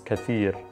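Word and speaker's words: كثير: Same with Ktir. So in spoken Arabic, we're saying Ktir. And in Fusha Arabic, it's the way you would say this is Kathir, and that's spelled like this.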